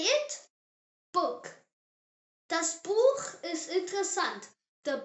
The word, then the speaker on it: Buch: book Das Buch ist interessant. The book is interesting. C, pronounced tsay.